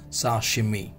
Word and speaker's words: sashimi: इज all about साशिमी लेट me tell you the pronunciation of this is सा she then M ई Clear? So the pronunciation of this is sashimi.